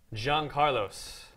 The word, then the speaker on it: Yancarlos: I've seen in a very very long time Jean Carlos oh there you got you pronounce it right I did I did practice